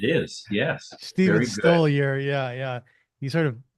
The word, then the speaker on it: Stoliar: Stoliar. Yeah, yeah. He sort of slapped me on the wrist. I pronounced his name wrong.